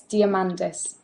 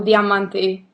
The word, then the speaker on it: Diamandis: It's Diamandis, or Diamanti in Greek.